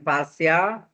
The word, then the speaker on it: partial: partial ya bacanya parsial diferensial differenal fal differential equation equ atau pde ini pde bukan produk desain engineering ya sini pasal differential equation.